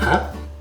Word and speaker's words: hein: Hein? Hein? Some of French pronounce it more like with a high tone, but in a discreet way. Sometimes it's barely audible.